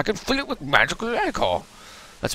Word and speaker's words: ichor: Why, since the troop trapper chalice, I can fill it with magical ichor. That's pronounced ichor.